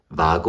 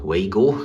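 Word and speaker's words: WAGO: there is another so this is Vago or wo if you pronounce it in English from Germany and then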